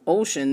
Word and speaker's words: 5tion: It's uh romanized as the number five and then the letters t i o n. But in the Korean language, five can be pronounced as O. So Ocean, this was like logical for me.